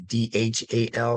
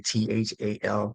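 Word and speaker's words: ذال: We would transliterate that in this case as maybe Dhal, or some people say Thal. So again, as William said, it's a little bit difficult to transliterate, but we can certainly pronounce it as z.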